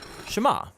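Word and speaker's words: שמע: is hear or listen which in hebrew is pronounced shema that's where the prayer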